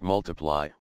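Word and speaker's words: ×: with Elton John his second studio album X pronounced multiply was released in June 2014 it peaked at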